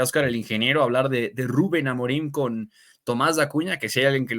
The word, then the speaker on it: Rubén: y lo dices bien porque es ruben no Rubén verdad porque tiene acento en la u ruben amorín nuevo técnico